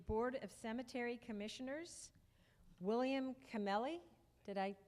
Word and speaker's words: Camelli: And for the Board of Cemetery Commissioners, William Camelli. Did I pronounce that?